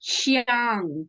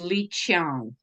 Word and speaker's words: Li Qiang: his name is pronounced Qiang because the Q in Chinese is pronounced CH. So it's Li Qiang. Li Qiang.